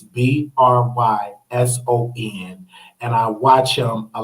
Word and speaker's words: Bryson: Okay, his name is Tommy Branson. That's Tommy Tommy Branson BRYSON. So I follow him. That again, his channel name is Tommy Tommy Branson. I believe that's how you pronounce his last name. It's BRYSON, and I watch him a lot.